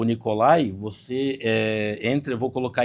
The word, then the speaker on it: Nicolaj: O J, ele tem um som de I, pronuncia como I.